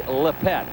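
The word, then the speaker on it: Lippett: The Patriots have always been known for their defensive back, Sam, but I'll tell you what, Ronnie Lepet, and that is the correct pronunciation. It is Ronnie Lepet.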